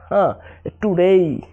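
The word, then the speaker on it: today: যেমন এখানে প্লে হবে না, হবে কি প্লে, অর্থাৎ PLAY, অর্থাৎ এর পরে ওয়াই থাকার কারণে এখানে এর উচ্চারণ এর মতো হয়েছে, অর্থাৎ প্লে। টুডেই, টুডেই।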